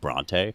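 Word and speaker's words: Brontë: was thinking about so it turns out that both are basically correct Bronte and Bronte which is sort of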